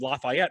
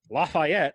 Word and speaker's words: Lafayette: And notice I said Lafayette because that's the actual pronunciation of the city. Lafayette, because it is a French word, not Lafayette.